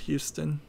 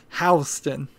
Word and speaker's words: Houston: It's pronounced Houston in Texas and spelled that way, and it's spelled exactly the same way in New York. There's an area in Manhattan called Soho, which stands for south of Houston, Houston. So it's spelled exactly the same way, pronounced differently. Houston, from what I heard,